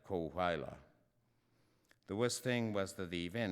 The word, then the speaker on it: Coahuila: He mispronounced Coahuila, saying it as if it were an English word. It's less well known than Chihuahua. Something like Coahuila.